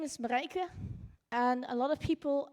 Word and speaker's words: Marijke: tell them I you you sort of pronounce it like Marica and it escalated to